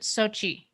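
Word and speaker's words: Xochitl: for the assist uh the actress pronounces it sochi sochi okay thank you america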